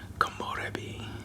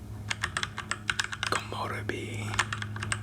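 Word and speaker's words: komorebi: Komorbi. Kamori.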